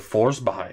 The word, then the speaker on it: Forsberg: be like oh well the proper Swedish pronunciation is more along the lines of force by or whatever which it